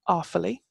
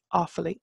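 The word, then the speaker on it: Uíbh Fhailí: changeable so we're gonna go from Claire to awfully and that's awfully and it's named after its who've all named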